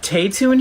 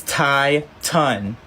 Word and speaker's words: Tai-Tun: And she's like, is Taytoon here? Anyone named Taytoon? And I knew she was trying to pronounce my name, so I look at her and I'm like, it's Tai-Tun.